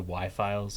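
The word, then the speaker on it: Why Files: watch, which is the Y-Files on YouTube. If you've ever seen the Y-Files, it's spelled W-H-Y, not the letter Y.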